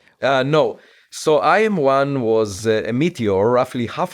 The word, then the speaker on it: IM1: Uh, it's IM1 and it's a abbreviation of interstellar meteor one.